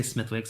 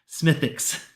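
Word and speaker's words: Smithwick's: Okay, Smithix is Guinness Dagio. Sullivan's is um Kill Kenny Brood. Got it. All right, let's go and nose the Smithix. I'm going to say Smithwix. I'm sorry. Smithix.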